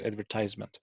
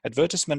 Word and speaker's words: advertisement: people to buy things advertisement or in american english you pronounce it advertisement advertisement and the abbreviations advert